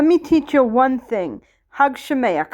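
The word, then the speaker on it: חג שמח: Hug Shemayach, hug Shemayach, hug Shemayach. You got to say it like you're hucking a loogie.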